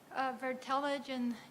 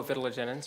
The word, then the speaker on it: vitellogenins: And the more simple question is that with your vertelagen genes, if I'm pronouncing that right, with the egg yolk. Oh, vitellogenins, yep, Yeah, okay, thank yep.